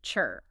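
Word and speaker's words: 尺: And the third position is chi. Just like the energy position is pronounced chur.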